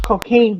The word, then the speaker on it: Cocagne: Cocagne, which seems to be pronounced cocaine, but like in a very like perfume, a cologne kind of spelling.